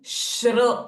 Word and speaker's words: श्री: to stress them अस्य again श्र इज a sound where you need to press a बिट अस्य श्री अस्य श्री Lalita now